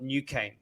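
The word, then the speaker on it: NuCane: goes to market is is a technology called new cane new cane yeah spelled with a k right uh you n-u-c-a-n-e n-u-c-a-n-e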